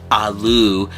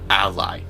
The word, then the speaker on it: Ally: It's not the Asus rogue aloo. It's the Asus R Og ally. That's how you freaking pronounce it.